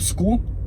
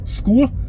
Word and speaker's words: Skool: to make money online with school SK o l school I have a free